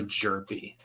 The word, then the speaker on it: Jerpy: Cooper Jerpy. Oh, okay. I don't care. His name is now Herpy. I'm sure he's never Cooper gotten that before. Jerpy. So the H is silent.